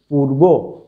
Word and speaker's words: পূর্ব: উদাহরণস্বরূপ আমরা যেমন দেখতে পারি এখানে পূর্ব, পূর্ব বানানটা দীর্ঘকার, কিন্তু আমরা যখন উচ্চারণের রূপ নিচ্ছি তখন এটা হয়ে যাচ্ছে রস্যকার।